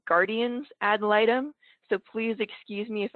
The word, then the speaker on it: guardian ad litem: by saying that um i've always pronounced it guardian ad litems and i recently learned that it's actually guardian's adoletum so please excuse me